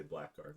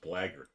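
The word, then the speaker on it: blackguard: back in the day you used to say black guard until i heard it pronounced blagger like blared ruins my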